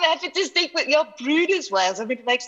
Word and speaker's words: Bryde's: But I want to start quickly this morning by saying most scientists actually call Bryde's whales Bryde's whales. So that's sort of the correct pronunciation. But I'm happy to stick with your Bryde's whales.